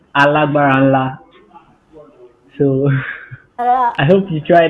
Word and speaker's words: ALGBARNLA: So I'll help you with the pronunciation of the name you're trying to call. It's ALGBARNLA.